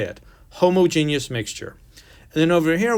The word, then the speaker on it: homogeneous: homogeneous mixture and that's how you say that homogeneous so we can talk about what that is in a second but i want you to understand how to say it homogeneous mixture and then over here we have the